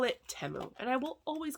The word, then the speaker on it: Temu: making all these videos we called it temu because we had no guidance and now it's Teemo and now all these people are emailing me saying I'm saying it wrong like you know more